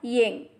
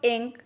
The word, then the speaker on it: yin: The next Pinyin is YIN, has a pronunciation of In. Repeat after me, In and not Ying. The next Pinyin is YING, has a pronunciation of ink.